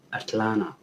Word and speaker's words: Atlanta: But here now they say Atlanta. Like the T, you swallow the T, Atlanta. The second T, you swallow it.